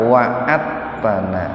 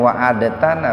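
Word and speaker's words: وعدتنا: berikan kepada kami, apa wa'atana. Nah, ini membacanya jangan wa'adatana Pak, dalnya jangan dibaca kol-kolah, jangan begini wa'adatana, tapi dimasukkan ke huruf ta.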